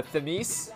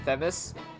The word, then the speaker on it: Themis: of the goddess theme uh femice that's how you say it with themis she's commonly referred to